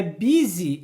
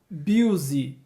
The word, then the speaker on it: busy: É busy e não busy.